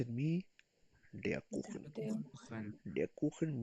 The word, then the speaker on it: der Kuchen: Der Kuchen, pronounce it me. Der Kuchen.